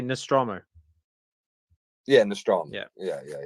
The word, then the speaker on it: Nostromo: they'll just do the nostram how do you pronounce it again well me me I I I I say Nostromo yeah nostr yeah yeah yeah yeah but yeah